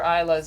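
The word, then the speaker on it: Islay: excited to meet other isas in Scotland and go to ISA the island which is spelled is yeah but I want to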